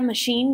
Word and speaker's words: machine: De hecho, esta palabra machine viene del francés, en donde se pronuncia machine.